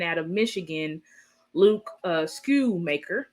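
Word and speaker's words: Schoonmaker: of Michigan Luke uh School maker that is how you say same school maker the end of Silent um and that was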